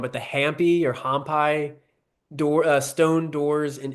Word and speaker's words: Hampi: But have you ever, so do you know that they I'm gonna say it wrong, but the Hampi or Hampi stone doors in India, it's Hampi.